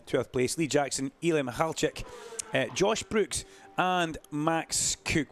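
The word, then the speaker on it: Mikhalchik: And he says, Duncan, just drop the K. Imagine the K is not there. That's how you pronounce my name.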